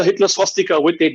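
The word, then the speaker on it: स्वस्तिक: b-h-a-g-a-v-a-n are also similar so for us the sanskrit pronunciation is only swastika there is no swastika with a w there's no swastika the v it's only swastika similarly that word does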